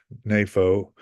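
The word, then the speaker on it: νήφω: So this is Strong's Concordance, and this is the word napho is the Hebrew word. That's how you pronounce it, napho, for the word that they use to be sober.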